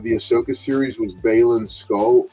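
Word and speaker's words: Skoll: Ahsoka series was balen skull skull I think is Skull is how you say his name uh Ray Stevenson is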